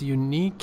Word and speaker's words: unique: Alright, you said unique, it's unique, second syllable.